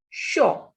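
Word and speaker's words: chaud: CH is sh. AU is O. The pronunciation of this is shaw.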